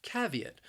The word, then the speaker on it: caveat: we have the word caveat which is a warning to consider something before taking any action the word has three syllables and the stress also it's on that first syllable caveat caveat I think this word